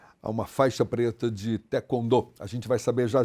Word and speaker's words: taekwondo: essa prática esportiva, falava-se taekwondo, mas não é taekwondo, é taekwondo. Taekwondo. É porque nós precisamos falar exatamente não como se escreve, mas sim como os coreanos pronunciam.